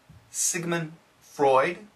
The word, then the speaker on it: Sigmund Freud: Are you familiar with Sigmund Freud? That's the American pronunciation.